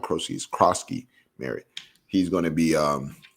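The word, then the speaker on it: Croskey-Merritt: He's Kroski Merritt.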